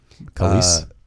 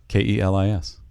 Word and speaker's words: Kelis: Khalees. What? Khalees. Is that who did it? Khalees, yeah. Kellis? Khalees? Is it Khalees? Kelis.